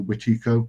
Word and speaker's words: Wetiko: Basically, the Wendigos wreck the place, or as we call it, the Wetiko, which is the pronunciation in Algonquin.